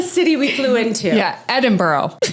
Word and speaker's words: Edinburgh: Did I say it? Edinburgh? You're failing already. Edinburgh. I can't not say borough. Yes. So how do you say it? Because now I forgot. Edinburgh. Remember, we were like, bruh. What's up, bruh?